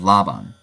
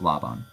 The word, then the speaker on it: Laban: Esau the Hunter and Laban or laan I pronounce it Laban because I think that's closer to the original Hebrew ridic uh uh regardless